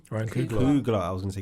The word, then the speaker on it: Ryan Coogler: Ryan Coogler. I was going to say Coogly.